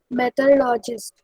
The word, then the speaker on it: meteorologist: सर ये The prediction of weather is done by the scientists called meteorologists who study the changes in weather. Right pronunciation is meteorologist.